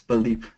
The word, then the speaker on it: Paldeep: Sorry, I think you are pronouncing my name wrong. It's Paldeep.